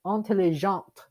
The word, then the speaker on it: intelligente: When it is feminine, we pronounce the T at the end. When it's masculine, we don't.